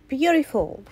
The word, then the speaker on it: beautiful: Beautiful. Beautiful. في حاجة هنا اسمها flapty. flapty هنا لما بتقع ما بين حروف متحركة في النطق الأمريكي التي بتتحول لآر، فمش بتقولها beautiful، بتقولها beautiful.